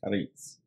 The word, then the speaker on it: charis: In the Greek, the word for grace is charis. Charis. If you transliterate it into English, it's charis. It's one of the words, root words, where we get our word for like charity or charisma, or there's a lot of the words that